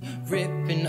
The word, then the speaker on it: ripping: Aqui, lembra que eu falei que as palavras que terminam em NG, esse G nunca é pronunciado e o som do N é um pouquinho modificado, tanto que ele é representado por esse N com uma perninha.